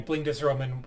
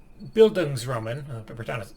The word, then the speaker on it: Bildungsroman: wind up being a Blindesroman when this entire series is completed. Now, what are Blindesromans? I'll quote Wikipedia. In literary criticism, a Bildungsroman, I've been pronouncing that one wrong, is a literary genre